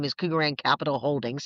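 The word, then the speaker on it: Kugarand: So, Kugeran is my company's name is Kugeran Capital Holdings. Sounds like gold, but not spelled like the gold coin. It's k u g a r a n d, right?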